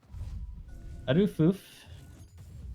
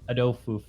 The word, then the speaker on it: Adufoof: Adufoof, that's how you pronounce it. He asked in lobby, because I remember it was like a week or 2 ago. We're casting on Risen, and we're saying, you know, Adofoof or audio foof because it looks very